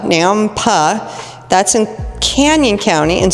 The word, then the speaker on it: Nampa: Then we had Nampa, not Napa, Nampa. That's in Canyon County, and so is Middleton. We happen to be in Ada County. So Nampa is 700,000 even at